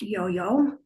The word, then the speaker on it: IOHIO: Founded in 2000, the Instit Wajaka or the Institute of Waka Historic Organs uh by its acronym Yoyo, pronounced Yoyo has worked actively to